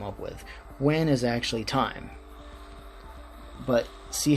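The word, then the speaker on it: taim: time uh and also the other version which is t-a-i-m which is going to be pronounced time exactly the same so time you do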